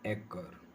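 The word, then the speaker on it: acre: Word है वो है एकर। सी का यहाँ जो उच्चारण है वो के है, एकर। वैसे आर को हम आर को प्रोनाउंस नहीं करते, एकर बोल देते हैं, लेकिन एक होता है वैसे ये।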